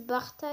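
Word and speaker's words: Burter: Il y en a qui disent Barta, il y en a Buta. Moi, je dis Buta. Parce que c'est comme ça que ça s'écrit, hein, sans trop vous mentir.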